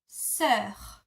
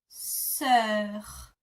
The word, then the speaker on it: sœur: E that are attached, this is how you pronounce it. So my sister is ma sœur. Ma sœur. Ma sœur.